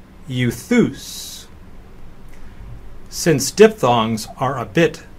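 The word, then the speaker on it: εὐθύς: And lastly, epsilon upsilon is pronounced as the EU in feud, and so euthus.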